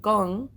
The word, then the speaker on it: Gong: don't you call it gong which is uh y gong yes and he said because it rhymes with gone and then I was